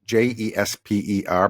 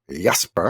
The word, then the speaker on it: Jesper: It's spelled Jesper, but that's not how you say it in Danish. It's Jesper.